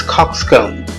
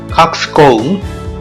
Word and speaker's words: coxcomb: say bisyllabic word, and the stress is on the first syllable. This is first syllable and this is second syllable. So this is coxcomb. Now American pronunciation is there, coxcomb.